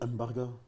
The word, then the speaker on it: Mbarga: Mbarga ou Barga? Ça prononce Mbarga. Ah comme oui. Mbappé, d'accord.